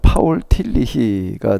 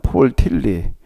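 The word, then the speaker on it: Tillich: 아이 시간에 제가 좀 여러분들에게에 같이 소개하면서 생각해 보고자 하는 것은 어 이걸 발음을이 사람이 독일 사람인데에 독일식으로 바울론을 하게 되면 파울틸리가 되고에 미국 유루바음을 하게 되면 폴틸리 보통 이렇게 얘기를 하는데요.에 에 시스템에 디로지 조직 신학 에이라고 하는에 책이 되게음 카메라로 비춰질지 모르겠는데요 책이거든요.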